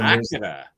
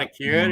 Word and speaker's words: Akira: So Akira, look at that. It's not Akira, it's Akira. Akira. I mean, you watch it, that's how they pronounce it.